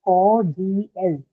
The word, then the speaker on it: cordial: Okay, so there are three syllables in cordial. It is cordial. It's not And cordial. it will be on the first syllable.